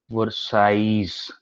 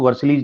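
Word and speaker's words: Versailles: और उसके बाद 8 जनवरी 1871 को एट पैलेस ऑफ, दोनों फोटो दिखाऊंगा, वर्साइज, एल नहीं प्रोनाउंस होता है इसके अंदर, इसको वर्सलीज नहीं बोलते, वर्साइज बोलते हैं।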